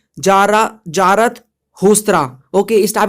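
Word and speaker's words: Zarathustra: For example यहाँ पर जो है जारास्थुरास्त्रा, ठीक है, यहाँ पर प्रोनाउंस जो है, प्रोनाउंसिएशन आप एक बार देख लेना, यहाँ पर ईरान में आते हैं। ठीक है, यहाँ पर देखो कैसे प्रोनाउंस करोगे, जारत हुस्त्रा।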